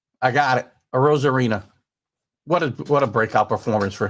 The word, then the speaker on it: Arozarena: So, Randy Arozarena. I got it. Arozarena.